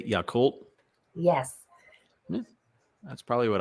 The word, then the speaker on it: Yakult: I don't know how to pronounce it. Yakult. What'd you say? Yakult?